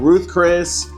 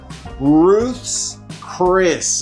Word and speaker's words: Ruth's Chris: I used to call it Ruth Chris, Ruth Chris's, Ruth's Chris is the way you say it.